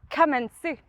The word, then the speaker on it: Kamentzu: Emily Newton hi Emily in case any of our audience are unfamiliar with kenu it's pronounced kensu uh yes could you